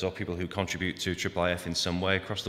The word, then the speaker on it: IIIF: an overview of this, which we usually pronounce as IIIF.